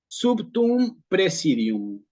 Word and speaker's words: praesidium: un mejor latín sería presidium así comienza la oración Entonces sí y aquí nosotros al principio tenemos una primera particularidad que es en la tiene eclesiástico está con esta e Sí qué se está